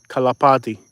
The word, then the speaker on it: kalapati: kalapati kalapati means pigeon k a l-a-p-i-t-i-d kalapati at the end is silent kalapati means pigeon so